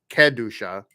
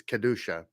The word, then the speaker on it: kedusha: And then the final word there is kedusha, kedusha. It's not like kedusha, but it's kedusha. It still has that ke or she or be sound to it, right?